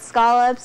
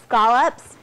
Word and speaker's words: scallops: You can do it with some seafood, like some good scallops or shrimp. And yes, they're called scallops. We don't call them scallops. They're from New England. I'm from New England. I say it right.